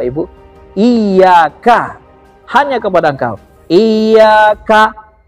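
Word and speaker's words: إِيَّاكَ: Iyyaka, seperti putus dia.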